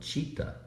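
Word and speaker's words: chita: The dog you might have heard barking is called cheetah, and it's not a reflection of the animal in Africa that runs very fast. It's spelled C-H-I-T-A, and it's Sanskrit for attention.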